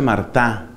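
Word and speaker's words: Martin: El apellido de ellos era Martín, se escribe, se pronuncia Martá. Martá, se escribe Martín o Martín.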